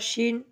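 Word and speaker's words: شين: এরপর আমরা শিন, শিন যেভাবে উচ্চারণ করব, শিন জিহ্বার মাঝখান হইতে তার বরাবর উপরে তালুর সঙ্গে লাগাইয়া শিন, একটু মোটা করে বাতাস বের হবে, শিন।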